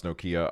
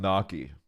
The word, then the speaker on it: Nokia: hearing yourself singing though hang on that's not how I pronounce Nokia I thought it's knocky no dude I'm gonna be I'm gonna keep it 100 it's not knocky I'm sorry to be the